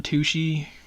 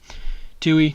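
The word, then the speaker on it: Tuohy: a guy Joe John tushy Tucci I don't know how to say his last name of it really Tui that's it Brian Tui that's his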